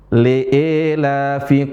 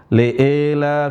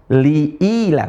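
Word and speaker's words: لإيلاف: Le e la bukan le. Le e bukan le e. Yang benar apa? Li ila. Ah. Gimana cara bacanya? Li ilila. Pakai i. Liila. Yang imanlah cuma satu di sini doang. Majha yang ada e-nya di sini. Jangan le ya. Liela fi qurais. Liela yang benar apa? Liili quraisy. Ahsantum.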